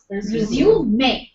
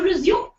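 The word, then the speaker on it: résumé: taken a break but when you give that uh for your job it becomes resum whereas most people stick to resume even in that context so with the pronunciation of this word resume it changes with the context when you say resume your duties after the Dali break the spelling remains the same but the pronunciation becomes different M Oxford Advanced Learners dictionary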